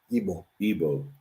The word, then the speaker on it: Igbo: people the are they called you say they pronounce it Igbo okay I was thinking about elbow now Airbus